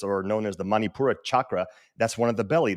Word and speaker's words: chakra: Now chakra, and it's actually like chalkboard. So CH it's like a chalk. Sorry. It's not SH.